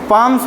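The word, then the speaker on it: palm: बच्चे के हाथ है पाम्स मींस क्या होता है बच्चों पी ए एल एम एस हा हथेलिया होता है ह इसमें एल साइलेंट है पाम हथेली पाम हथेलिया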